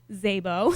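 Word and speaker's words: Szabo: what his last name is Zabo spelled with starts with a s s z-a-b-o and so we we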